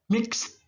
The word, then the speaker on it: mixed: Mix. Pakai ed jadi t bunyinya. Mixed. Mixed.